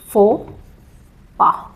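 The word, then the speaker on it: faux pas: English का ये word नहीं, फ्रेंच का वर्ड है, तो इसका प्रोनाउंसिएशन भी ये नहीं होगा, इसका प्रोनाउंसिएशन है फो पा, ठीक है, फोपा।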